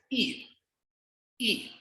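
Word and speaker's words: 一: in mandarin counting is e note that y is silent so you only read the letter i here e i you pronounce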